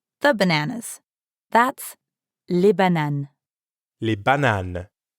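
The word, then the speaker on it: les bananes: bananas that's le banan li banan remember to say lay and not la when talking about more than one banan let's head to the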